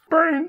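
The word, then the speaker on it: Baen: I think it's pronounced Bain Software. That's why I spelled it, just because to avoid that exact situation.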